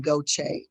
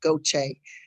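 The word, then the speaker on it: Gautier: grandmother was born in goache g-a-u-t-i-e-r it's the mississippi pronunciation of french goche uh my father and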